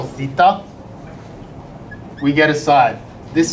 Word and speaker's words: theta: It's called theta. It's spelled t h e t a in the Greek alphabet.